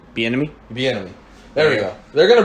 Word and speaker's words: Bieniemy: Eric Bieniemy. Bieniemy.